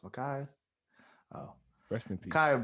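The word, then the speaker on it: Ma'Khia: that poor girl, Michaela Bryant. That one Is it is Michaela or Makai? is it Micaiah? Micaiah or Michaela? I don't know how to Makai. pronounce it. Micaiah. Oh, it's Micaiah.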